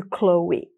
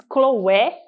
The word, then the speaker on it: Chloé: o Windows de cloe muita gente diz khloé né mas é aqui as pessoas falam cloe cloe é um nome né muito usado principalmente na Inglaterra Então é eu sei que na Inglaterra aqui no By a gente fala cloe perfume conhecido como